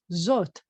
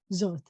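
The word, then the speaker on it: זֹאת: you have an aleph, and it has no vowel, which means that the aleph is part of the O dot, is part of that vowel. So the word is zot.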